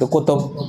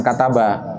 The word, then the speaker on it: kutub: beliau yang lain yait kutub bukan kataba kalau katabah dia menulis ini kutubu karena kalau kataba harus dicari failnya di Kutub ini bacanya jamak taksir dari kitab dan kitab-kitab beliau